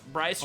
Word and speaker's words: Bryce: Bryce rhymes with slice.